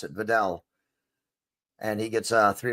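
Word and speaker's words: Vidal: I just heard the announcer say it, so at least finally I know how to pronounce it. Videll.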